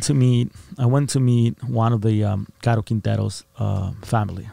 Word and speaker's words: Caro Quintero: Caro Quintero.